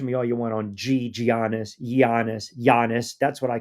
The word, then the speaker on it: Giannis: all you want on Giannis. Giannis. Giannis. That's what I call him. Giannis. I've heard people call him Giannis. I know the freaking G is silent.